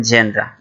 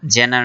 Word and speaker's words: genre: এটা উচ্চারণটা একটু খেয়াল করবেন, জেনরা, জেনার না কিন্তু জেনরা।